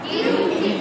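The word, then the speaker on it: duty: ডিউ টি ডিউ টি তাহলে এটা হলো ব্রিটিশ উত্তর বলা ডিউ টি ডিউ টি আর ডিউ যদি না বলো ডু ডু বলো তাহলে আমেরিকার উচ্চারণ হবে বলো ডিউ ঠি ডিউটি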